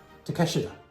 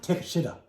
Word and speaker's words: Takeshita: now u.s newscasters had no idea how to pronounce his last name the proper pronunciation and i can be corrected on this is takeshita but everybody in the us would just say take a yeah no 1928 fats